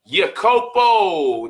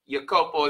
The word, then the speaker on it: Iakopo: We brought in my man, Iakopo. Did I pronounce that right? You got it. Iakopo is in the house, man.